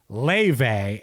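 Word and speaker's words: Laufey: It was actually Ley. And I'm I'm pronounc This is another one. I'm pronouncing Ley right.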